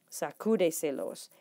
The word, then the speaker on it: sacúdeselos: So una sílaba, 2 sílabas, 3 sílabas, 4 sílabas. Sacúdeselos. And your syllables are vowel syllables. You're counting vowels. So uno, dos, tres, cuatro. Sacúdeselos. And you put that accent.